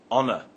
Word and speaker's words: honor: we use and let's look at the word honor we say an honor not at honor the age in honor is silent other examples are an hour and an